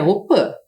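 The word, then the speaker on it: Opy: Embora a gente escreva aqui Opi, que é a casa de reza, a pronúncia correta é Opã.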